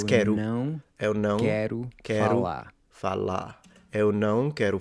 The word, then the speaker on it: quero: He really lengthens this open air.